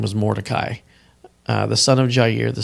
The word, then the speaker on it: Mordecai: there was a certain Jew whose name was Mordecai, the son of Jair, the son of Shimei,